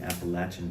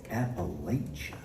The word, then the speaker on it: Appalachia: time, and she said, I hear these people coming around here saying Appalachia, and that ain't how you say it. And she said, and here's how you remember, in case you forget, here's how you remember. If you say it wrong, I'm gonna throw an apple at you.